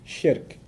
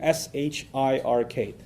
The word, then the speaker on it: shirk: I'll spell that out for you too, S-H-I-R-K. So nothing worse for a Muslim, from his faith perspective, nothing worse than shirk. S-H-I-R-K. Sounds like Shrek, so that's easy to remember, right?